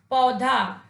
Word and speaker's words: पौधा: जब प के साथ हम औ का प्रयोग करते हैं तो ये शब्द शुद्ध होता है, और उसका शुद्ध उच्चारण होगा पौधा।